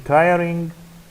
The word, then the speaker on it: tiring: Number 3, in tiring, is the stress is on the first one, this syllable, on the first syllable.